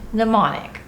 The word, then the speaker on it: Mnemonic: say we're doing Johnny mnemonic the M is silent which one tell everyone